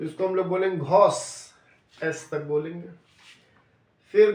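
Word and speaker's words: grosse: तो last letter ई बन गया है बिकॉज़ स्पेलिंग क्या है जी आर ओ एस एस ई तो इसको हम लोग बोलेंगे घोस एस तक बोलेंगे फिर घ फिर घोस मीनिंग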